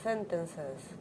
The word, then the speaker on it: sentences: Extra syllable. Sentences. Why? Because it finishes in S sound. Yes, even though it's a C.